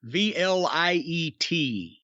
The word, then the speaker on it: Vliet: how to say it it is confusingly spelled v-l-i-e-t I guess that would be Vliet or Vliet light and